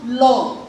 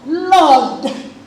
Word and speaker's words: Lord: So I remember he always says, you people, it's not Lord. Lord, pronounce the consonant. That is, the last consonant of that word should be pronounced.